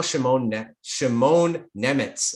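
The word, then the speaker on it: Šimon Nemec: It's now Shimon Nemitz, and that's the right pronunciation according to Elite Prospects.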